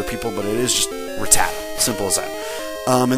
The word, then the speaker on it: Rattata: after that here's a Rattata and it is pronounced Rattata I used to think that it used to be called radic uh uh what I used to think it was um Ratatat and so do a lot of other people